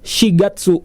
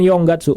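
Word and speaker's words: 四月: Young tapi si dah jadi April itu shigatsu bulan keempat bukan Young Gatsu bukan jadi April itu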